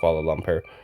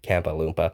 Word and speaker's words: Kuala Lumpur: 15 years old, and I would call cities like Kuala Lumpur. First time I'd ever seen that city, for example, Kampa Loompa. So my pronunciation has definitely gotten better. It's still not good. Definitely still not good, but no longer Kampa Loompa.